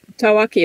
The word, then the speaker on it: tawaki: going to be discussing the tawaki how's my pronunciation tawaki is perfect yeah what we knew about this